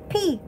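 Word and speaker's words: 비: Oh, in Korea, how to say rain is P. P.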